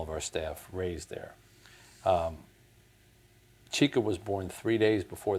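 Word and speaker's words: Chika: which is finding chica have I got the pronunciation of that's right chica that's right so this is your latest book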